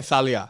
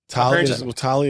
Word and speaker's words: Talia: Yeah, like some people say Thalia. It's spelled TH, and my brother's got a fucking You didn't Arab know about name. this. We're not Arab. Talia is not really a Greek name. I've never heard that. I think the Greeks Thalia? Thalia Yeah, with with a a TH. TH, But hers is spelled TH, but we say T.